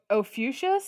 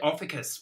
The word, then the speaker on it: Ophiuchus: Is it Ophiuchus? Yes, See, I said Ophicus when I read it, but I was clearly wrong.